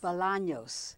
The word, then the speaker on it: Bolaños: And I'm so happy to have Bolaños. Did I pronounce it right? Bolaños. Bolaños.